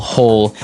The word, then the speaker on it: hoe: If you want to make maybe a small hole in the ground, you would use a spade. And now our last tool has a kind of a funny spelling. It's h o e. And it's pronounced ho.